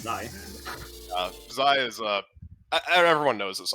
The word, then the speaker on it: xi: We have White Peak by Zai. That's how it's pronounced, actually. It's Zai.